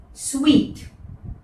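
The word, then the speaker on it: suite: The first one इज इट सूट नो ये है स्वीट स्वीट खाने का स्वीट the same pronunciation but इसका मतलब मीठा वाला स्वीट नहीं है इसका मतलब है वो रूम्स जो आपको होटल में मिलते हैं।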